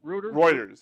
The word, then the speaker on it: Reuters: highly regarded news right how do you pronounce the router reuters yes on reuters yeah yeah right writers